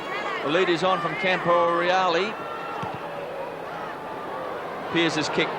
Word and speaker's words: Camporeale: That we've been told we shouldn't say Camporelli, his name is Camporeale. That's the right way to pronounce his name.